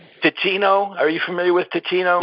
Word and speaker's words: Teeccino: So for those people out there who want to make a change, just check out Ticino. It's spelled Teeccino.